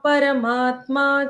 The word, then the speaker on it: परमा: पूतात्मा परमात्मा च, भूतात्मा परमात्मा च। मुक्तानां परमा गतिः। मुक्तानां परमा गतिः। परमा, प और र का उच्चारण पूर्ण।